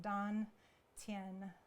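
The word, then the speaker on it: dantian: T am t iean that's pronounced dawn tin it's Chinese not Sanskrit we're blending systems so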